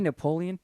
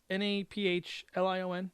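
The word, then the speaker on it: Nafplio: The citizens of Napoleon, Napflion. This is a tough one. Are you trying to say Napoleon? Nope, it's Naphlon.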